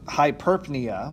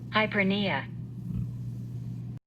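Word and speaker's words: hyperpnea: that becomes forced breathing also known as hyper hyperpnia mr thompson would like to say that is not correct it is actually pronounced hypernia and it's also assisted by the accessory muscles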